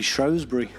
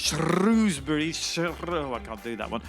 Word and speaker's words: Shrewsbury: shows Barry this is shoes it's most definitely Shrewsbury Oh I think you're about to get linked